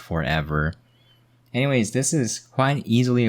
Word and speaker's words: ForeVR: It's ForeVR Bowl, but it's pronounced forever.